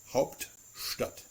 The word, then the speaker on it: Hauptstadt: But Stadt is still an integral part of this compound noun, so it is still retaining the st pronunciation.